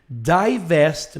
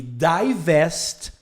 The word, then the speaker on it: divest: Divest means deprive, get away from. Stop having that. Stop doing that. It could be divest or divest. 2 pronunciations. Okay? 2 pronunciations.